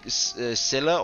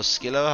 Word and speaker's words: Scylla: But then she decided to make Scylla, or Skilla, however you choose to pronounce that. Like, I've always said Skilla instead of Scylla, but I know a lot of people say Scylla as well.